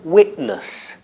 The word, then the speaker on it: witness: the sentence football everybody says football witness again witness witness at lusts becomes Atlas atlas network becomes